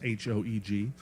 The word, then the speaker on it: Hoeg: We're listening to the album Happy Crappy by Reese Hoeg, long O, pronounced Hoeg.